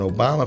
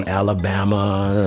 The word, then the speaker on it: Obama: baby politically he said people don't know how to pronounce my name they say alabama some say yo mama but the name is obama we were at saint